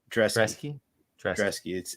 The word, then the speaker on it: Brzeski: It's Drezeski. It's a B that's a D.